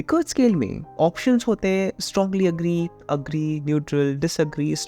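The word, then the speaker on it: Likert: first point here is quantification but the correct pronunciation of it is liquor scale anyway continuing with the topic like Li scale options strongly agree agree neutral disagree strongly disagree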